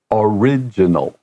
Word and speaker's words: original: So from origin, we add an AL, and then the pronunciation changes to original.